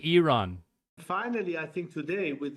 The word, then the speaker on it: Iran: And Americans say I run. I'm not American. So it's it's apparently Iran.